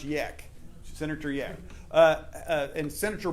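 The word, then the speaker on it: Jech: a problem and it's he spell it je CH pronounced yak senator yeah uh and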